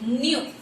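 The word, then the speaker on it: knew: இங்க here K is silent. So N U, new.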